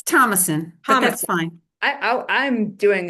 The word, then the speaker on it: Thomasson: And I'll now introduce Thomasson, who is our next speaker. And Dr. Thomasson is the legislative lobby coordinator for, and did I pronounce your name wrong? Is it? It's Thomasson, but that's fine.